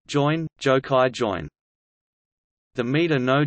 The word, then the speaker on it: jōin: Chinese, Chan Dingyin Pinyin, Chan Dingyin, Japanese pronunciation, join, Jokai join.